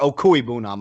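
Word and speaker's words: Okwuegbunam: There's some of them like Owegbunam and Igbenogany that I knew, or Okuibunam, I beg your pardon, and Igbenogany that I know for a fact that's how it's pronounced.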